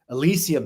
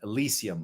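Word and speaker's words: Elysium: Elisium seed. That's spelled E L Y S IU M. Elisium, like the Elisium fields, right, of ancient Greece, the Elissian secret societies.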